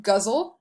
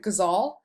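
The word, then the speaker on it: ghazal: some people pronounce this guzzle some people pronounce it gazal so you number your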